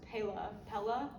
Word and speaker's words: Pela: So the brand is, I think it's pronounced Pela, P-E-L-A, and their cases are 100%